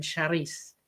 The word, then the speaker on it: Shereice: I'm multilingual and it amazes me that um you have to almost like your name is slightly French in my head and I know that that's a French pronunciation, Sharice, you know.